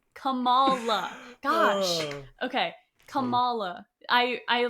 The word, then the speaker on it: Kamala: Cuz when we say Kamala, it's like Kamla Harris, but that's not how you say her name. It's Camala. Camala.